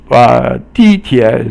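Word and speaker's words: 地铁: 地铁 is 四声 or falling, and 铁 is 三声, and it means the subway.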